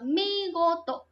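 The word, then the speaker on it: 見事: Đó, chữ này sẽ đọc là migoto.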